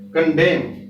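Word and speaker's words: condemn: इसी तरह कंडेम में देखिए, एन से पहले एम आया तो ये एन साइलेंट है, कंडेम।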